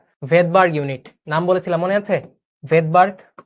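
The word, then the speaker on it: Svedberg: ভেদবার্গ, প্রথম ক্লাসে বলেছিলাম এই ভদ্রলোকের নাম ছিল ভেদবার্গ, বুঝছো? এসটা এখানে সাইলেন্ট থাকে। ক্লিয়ার?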